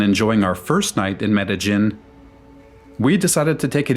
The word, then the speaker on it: Medellín: It's not Medellin, it's Medellin.